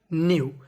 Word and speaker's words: know: हम लोग कहानी की शुरुआत कर्ण यानी कर्ण न्यू के ए डब्लू इसे पढ़ेंगे हम लोग न्यू